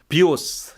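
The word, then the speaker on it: βίος: 그 되게 재밌어요 예 비오스 이렇게 발음하면 활이라는 뜻이 되고요 비오스 하면은 생명이 돼요 똑같은 단데 어 강세 어디에 두냐에 따라서 그래서 헤라클레이토스는 철학자가 이런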